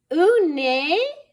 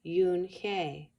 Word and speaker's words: Unhei: "Ooh, nay?" the girl asked, scrunching up her face. Ooh, nay," some kids shouted. No, Yoon-hye corrected. "It's spelled Unhei. It's pronounced Yoon-hye."